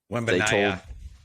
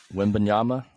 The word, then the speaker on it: Wembanyama: Like full, they told, Wembanyama. Is that how you say it? yeah. I mean, Wembanyama.